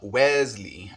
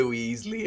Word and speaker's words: Wesley: It is pronounced Wesley, okay. But he's a ginger, absolutely smattered with freckles. So he gets the Weasley a lot too, but he loves it and hams it up.